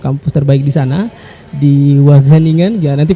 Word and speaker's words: Wageningen: Wageningen. Wageningen, Ya. waduh. Pronunciation-nya Belanda itu, Pan. Masyaallah. Agak ada h-nya sedikit di sini.